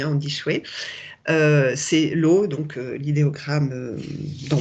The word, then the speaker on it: shui: qui est en haut et chouette ça se prononce on dit pas je suis on dit chouette c'est l'eau donc l'idéogramme d'en bas donc c'est